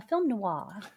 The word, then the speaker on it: film noir: It was a film noir. A film noir.